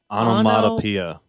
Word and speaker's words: onomatopoeia: we're all pronouncing it wrong okay can you pronounce it correctly onomatopoeia modopia onomatopoeia really yeah weird hit me too